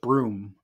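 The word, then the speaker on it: Bruttenholm: um yeah and like Professor brutin Holm or most like as mola says it's supposed to be pronounced broom um he's kind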